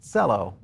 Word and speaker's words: Celo: a little bit deeper on a project called cello kind of pronounced with the t and the c together